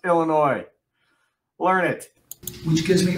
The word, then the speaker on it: Illinois: It's Illinois. You said it right the first time. What is the problem with everybody? The state is pronounced Illinois.